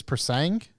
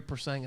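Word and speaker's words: Purosangue: I believe it's Persang. Yeah, I believe it is as well, but I'm not gonna embarrass myself. Ferrari Persang attack.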